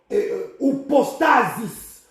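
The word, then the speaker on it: ὑπόστασις: Ici, le mot assurance, nous sommes dans le Nouveau Testament, c'est la traduction du mot upostasis, upostasis. Upostasis s'écrit H-U-P-O-S-T-A-S-I-S.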